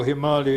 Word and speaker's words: Himalaya: So Himalaya is the abode of snow, and indeed that's how Himalaya is pronounced in English today, not only by superior folk and Sanskritists, but by many Indians.